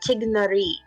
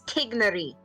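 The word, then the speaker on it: Tighnari: more of a no it's more of like a hard G tignary it's tignary technically we're probably saying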